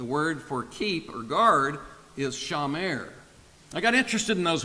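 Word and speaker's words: שמר: it that word for cultivate in Hebrew is pronounced a bad and the word for keeper guard is Shah mer I got interested in those words so I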